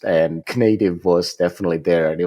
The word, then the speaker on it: Knative: I always thought that Knative should be pronounced Knative, like Donald Knuth. Yeah, no, there was a lot of discussions about how should it be pronounced, and Knative was definitely there, and it was like, no.